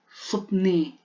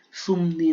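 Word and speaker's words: 습니: Yung po yung ano lang, kasi hindi man pwedeng bagasin na supni. Supni, parang ang hirap na po di man bagasin. Ginawa nilang M. Sumni na lang. Sumni. Para mabilis bigkasin. Sumni. Hindi supni. Ginawa na nilang sumni.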